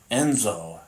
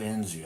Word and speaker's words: Enzo: Uh it's Enzo as in Lorenzo. Enzo, not Enzio.